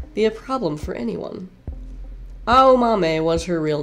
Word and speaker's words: Aomame: word for green peas, and pronounced with the same four syllables, A-O-Ma-Me.